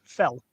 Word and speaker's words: fel: Up in Hungarian is pronounced fell.